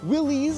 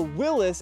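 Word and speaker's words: Willys: a couple different ways willies with like the y or i e s or Willis as was the Man's last name and I've heard historians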